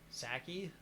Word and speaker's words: Psaki: the press secretary Jen Psaki, Jen Psaki, PSKI. Ski. I would just say P is silent. Psaki. Saki.